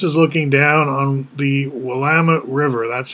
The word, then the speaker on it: Willamette: So this is looking down on the Willamette River. That's how we pronounce it, not Willamette, Willamette.